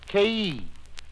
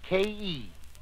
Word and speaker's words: khei: peace producing sound of K pronounced like a double syllable it is spelled khei but pronounced like ke the note is e